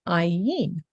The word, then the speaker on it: ayin: So ayin is the letter, ayin.